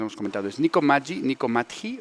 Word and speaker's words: Matji: ¿Es Nico Matji, Nico Matji o Nico Matji o cómo se dice? ¿Cuál es la pronunciación correcta? Ni yo lo sé. Pero siempre digo Nico Magi.